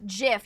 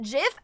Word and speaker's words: GIF: That's like people say that the the guy who made GIF wanted it to be pronounced GIF. You think I'm going to call it GIF?